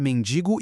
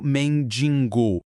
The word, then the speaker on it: mendigo: E voltando aquele exemplo que usamos lá no começo para definir as regras, o correto é mendigo e o incorreto mendingo.